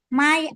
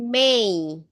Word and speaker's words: May: My I borong your book please. Sip mantap. Tinggal pronunciation-nya Bu. Bukan my tapi may.